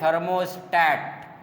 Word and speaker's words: थर्मोस्टैट: ठीक है, अगेन कह रहे हैं थर्मोस्टैट, not state, it is pronounced as stat.